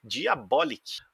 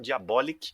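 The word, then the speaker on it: Diabolik: mais nada menos que Diabolic, ou Diabolique, né? Aí depende da sua pronúncia, ou Diabolic, caso você seja um americanoide. Pode falar Diabolic também, que a gente não trata mal, não. Eu prefiro ficar com Diabolic, porque eu acho que é um pouco mais próximo do português, né? Diabólico, então eu gosto dessa pronúncia Diabolic. Bom, Diabolic é uma série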